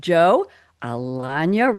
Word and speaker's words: Alagna: We have Joe Alagna, rhymes with lasagna.